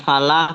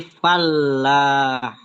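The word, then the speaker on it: الفلاح: Oh me gak gak untuk alfalah ditekankan bukan falah tapi fallah.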